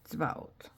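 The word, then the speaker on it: צבאות: So, tzvaot, tzvaot. Ot is one. This is silent in Hebrew.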